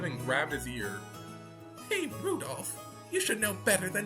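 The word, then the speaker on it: Rudolf: never learned anyway this guy's name is pronounced rudolph you must hate grandfather for giving him that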